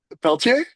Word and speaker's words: Pelletier: And now, I don't want to say your name wrong because I know it's French, but it's Janny Peltier. That's it. Peltier.